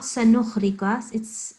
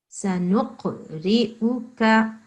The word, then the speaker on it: سنقرئك: Okay, it's not sanukhrikas. It's not a kha. This is a qaf. Sanuqri'uka.